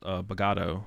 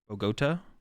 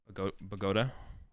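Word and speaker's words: Bogotá: For some reason, I thought it was called Bogado. It's Bogota though, right? We've only watched the one round so far. We haven't watched very much. Bogota has an accent, yeah. Bogota. Bogota.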